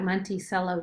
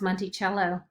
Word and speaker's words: Monticello: back of the nickel this looks like monticello doesn't it but really it's pronounced monty cello okay so let's take